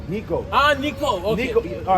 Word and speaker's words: Necho: You don't know how to spell it. It's Necho. Necho. Ah, Nico.